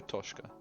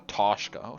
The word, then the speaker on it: Otoshka: a very calm place am I saying it correctly it is a toshka the toshka not a toshko toshka but toshka Blake has always